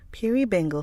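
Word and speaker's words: Perrybingle: Perryi Bingle. Never heard this name before. Piri Bingle from Dickens is pronounced like Pure Eingle, rhyming with Fury Bingle.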